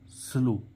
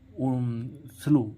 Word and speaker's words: slow: में OW हो तो इस OW का उच्चारण ओ होता है, जिसमें W साइलेंट रहता है, जिसमें W क्या रहता है, साइलेंट रहता है। जैसे हम देखें SLOW, स्लो, इसमें स्लो, SLOW, स्लो, स्लो means